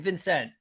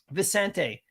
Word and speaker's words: Vicente: to lock that in Vincent Vicente sorry I'm saying your name wrong uh Vicente do you want to lock